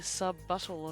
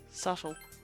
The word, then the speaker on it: subtle: Not very sub-buttle of you. Hey, you brought it up. Wait, what? What did you just say? Subtle. Did you think the word subtle is pronounced sub-buttle?